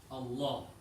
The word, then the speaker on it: Allah: When the fatha, it comes right before the name of Allah. The name of Allah is pronounced heavy.